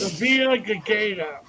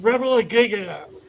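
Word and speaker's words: Revillagigedo: places with this name, in some places in the world it's pronounced Revilla Gigata. But in Alaska, it's pronounced Revilla Gigata.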